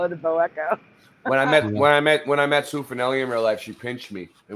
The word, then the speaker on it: bow echo: Wouldn't that be pronounced bow echo, like the bow of a ship, rather than bow?